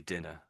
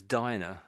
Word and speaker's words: diner: So if it was double N, it would be dinner. Dina. Mhm. But when it's diner, that's obviously how it's spelled diner, I should say.